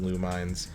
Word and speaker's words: Lumines: If you've ever played Lumines, or I always call it Luminous, but I think it's actually pronounced Lumines.